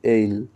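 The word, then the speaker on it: isle: এখানে এই উচ্চারণটা কিন্তু এসল হবে না। এর উচ্চারণ হবে এইল।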